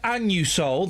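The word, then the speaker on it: Anusol: Listen, when I go in and buy my annu soul, that's how it's pronounced.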